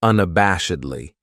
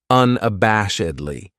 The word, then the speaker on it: unabashedly: weekend then we have unabashedly this adverb has five syllables and the stress is on that third syllable that bash unabashedly that second syllable has that schah that uh sound unabashedly what it means